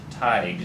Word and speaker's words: Teig: Her name is Annette Teig. And it's actually, when you spell it, it actually looks like Teague, or Teagues, and and I was incorrect, and I do apologize to Annette.